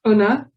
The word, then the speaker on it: una: For you, it's una.